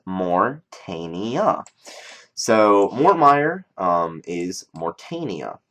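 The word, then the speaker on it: Morytania: know the actual area is morania and it's pronounced morania so morm um is morania okay now depending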